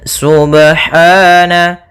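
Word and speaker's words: سُبْحَانَ: pada lafal ba sukun Apabila ada huruf ba dia harakatnya sukun maka ada hukum Qalqalah maka harus dipantulkan dalam membacanya hati-hati juga dalam pantulannya jangan sampai ada tambahan Hamzah atau di dalam bacaannya ada sakta misalnya Subhana ini sakta kalau dia tambah nzah Subhana harusnya dia sub ya Subhana Kemudian pada lafal ha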